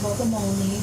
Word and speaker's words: Bogomolny: It's pronounced Bogomolny, but it brings out everybody's inner dyslexia, and including my own.